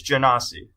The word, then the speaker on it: Genasi: Baller, it's Genasi. Okay, well that's not what the G sound makes. That's a J sound, but fine.